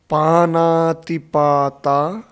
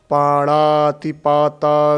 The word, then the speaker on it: पाणातिपाता: तो मेरे सुना है पाणातिपाता वेरमणी सिक्खा पदं समादियामि इस उच्चारण करते हैं अ यह ना साइलेंट है इसको ध्यान में रखिए पाना पति पाता